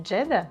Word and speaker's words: Джедда: Вообще, название Джедда, пишется Джеддах, является одним из форм произношения арабского слова Джедда, которое переводится как бабушка.